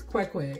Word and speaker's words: Kwekwe: It's Kwekwe. It's K-W-E with a space in between, or sometimes it's spelled K-W-E-H space K-W-E-H, Kwekwe.